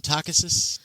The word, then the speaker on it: Takhisis: Uh Zora, you know that Takhisis uh I prefer the pronunciation Takhisis.